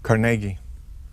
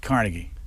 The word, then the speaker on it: Carnegie: do you pronounce it Carnegie emphasis on the middle syllable not Carnegie no no and if